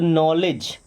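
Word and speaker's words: knowledge: देखिए के साइलेंट है डब्ल्यू भी तो क्या हो जाएगा नो ले यहां पे डी साइलेंट ना जी के पहले डी साइलेंट होता है तो नॉलेज क्या हो जाएगा नॉलेज नॉलेज का मतलब होता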